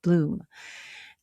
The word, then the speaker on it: Blum: You know, maybe maybe a lot of people think it's Blum because it's b l u m, but it's it's pronounced Bloom.